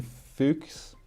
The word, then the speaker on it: Fuchs: Oh, Christian Fuchs. I don't know how to say his name. Fuchs, right? Fuchs. Yeah. It's German, and if you're Afrikaans, you will know.